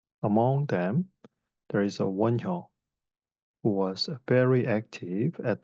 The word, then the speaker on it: Won Hyo: The first monk I want to discuss is Won Hyo. In Chinese, we write his name like this, and we pronounce in Korean Won Hyo.